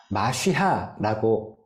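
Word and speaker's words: משיח: 자이 메시아의 구약의 원어의 히브리어에는요 마시하라고 읽어요 그리고 영어로는 메시아입니다 그리고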